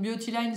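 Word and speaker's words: Biotyline: Donc Beautyline, c'est comme pour cette chaîne-là, ça s'écrit B-I-O-T-Y espace L-I-N-E.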